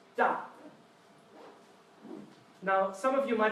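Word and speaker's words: 大: Now this character, you can see, has a line on top that goes down. That means it's the 4th tone, pronounced da.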